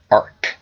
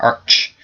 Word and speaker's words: archangel: a discussion with someone it's technically Arc so Arc not Arch even though I think it should be Arch because that's how it's spelled anyway which Arch Angel